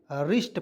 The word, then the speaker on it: wrist: यहाँ पे देखिए WRIST, तो वरिष्ठ नहीं पढ़ेंगे, रिष्ट पढ़ेंगे, वरिष्ठ बहुत लोग पढ़े नहीं, रिष्ट पढ़ेंगे बिल्कुल।